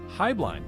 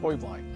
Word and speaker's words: Heublein: tower or is it high blind tower there's actually three pronunciations high blind is the family hubline is the business and the actual correct bavarian pronunciation is boyblind however you choose to